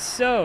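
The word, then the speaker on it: SoW: out of character about is it so or s like no it's so. You know spirit of the wolf. Like I'm so happy you know. I used to say it's so. It's pronounced so because I'm so happy I can run fast instead of slow.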